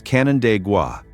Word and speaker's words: Canandaigua: If you have never tried to pronounce it, here is your free pass. It is Canandaigua, and the name itself is the first thing